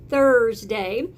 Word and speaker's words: Thursday: of course is Thursday this is where I have to stick my tongue out a little bit and say Thursday and we're in our